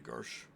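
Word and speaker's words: gadje: also travel with the Garsh. is that like a dialect for like a word that I don't know? It might be. That's how I pronounce it. I know Percival pronounces it a little different.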